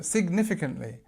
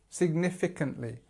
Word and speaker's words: significantly: So significantly. So our stress is on the second syllable. The first one is this I sound, so signif. You see you've got 3 I, significantly.